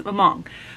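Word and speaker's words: Hmong: all of these different things they are not pronounced how we would think in English so paa is mong which is a people group in the Vietnam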